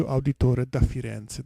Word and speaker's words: Auditore da Firenze: CEO and yes and so it's a sea auditore da firenze that's the right pronunciation yes as you can see or now